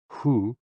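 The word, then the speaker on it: 呼: HOO, pronounced like hu, which is associated with the spleen.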